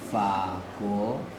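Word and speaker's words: 法国: En chinois, on dit fa, go, fa, fa. Go, c'est G-U-O. Voilà, c'est la Fago.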